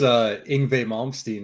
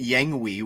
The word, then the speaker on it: Yngwie Malmsteen: I used to pronounce it Yangwi, which I guess is kind of. True I used story. to say Injui. True story.